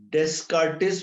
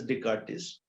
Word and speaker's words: Descartes: Descartes, but it's pronounced as Descartes.